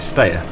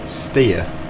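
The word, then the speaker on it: Steyr: Uh, that brings me on to the next thing, which is the pronunciation of well, I was calling it ster. Um, apparently it's pronounced steer.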